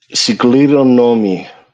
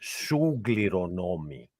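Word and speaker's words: συγκληρονόμοι: But the website, the Blue Letter Bible, says sugleronomy, which is completely wrong. This is not an e right here. This is an e. So this is not an u, because the u is up here. It's an o and then a u.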